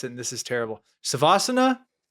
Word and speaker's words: Shavasana: Shavasana? Shavasana. Honestly, though, either of them work.